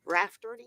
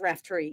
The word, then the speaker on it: Raftery: I've been pronouncing your name all this time wrong. Rafferty, It's Raftery, yes.